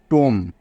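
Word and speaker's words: tomb: সমস্যা নেই তো বুঝতে বি টা এখানে পড়া হলো না কারণ বি এর আগে এম আছে তাই বোঝা গেল টি ও এমবি এটাকে কিন্তু টোম পড়তে হবে কখনোই টোম পড়া যাবে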